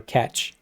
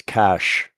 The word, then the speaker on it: cache: Do you say cache or Cache or catch? It's Cash.